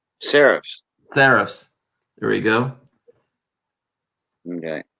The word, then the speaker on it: serifs: Sharice? Serifs.